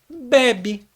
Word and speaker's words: bebe: recebe acento deu PR você entender a palavra bebê tem acento o acento É no último é fica bebê então a gente lê com o acento lá já sabe que tem que pronunciar bebê quando a gente vê a mesma estrutura sem assento a a gente já pensa Opa se fosse bebê teria acento então a pronúncia dessa é bebe entendeu E aí eh